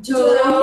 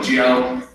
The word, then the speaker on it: Joe: Joe. You don't pronounce the E. Dawson. Dawson. This A and W you say Dawson. Dawson. Ladies Ladies and And gentlemen. gentlemen. Gentlemen. Gentlemen. Welcome to the show, Joe.